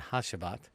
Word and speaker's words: Hacivat: I say that actually one of the people in the fragrance groups told me how to say it from the last video they helped me correct it and if I'm correct to see or something to that nature sounds like a J so how's about so